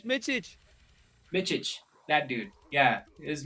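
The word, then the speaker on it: Mičić: Mitchich.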